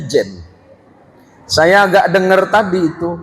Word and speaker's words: Zein: Nama saya itu kan Zen, tapi kalau ejaan Melayu kan jadi jen. Saya agak dengar tadi itu. Kepada yang terhormat almukaram K. H. Jin Muksid.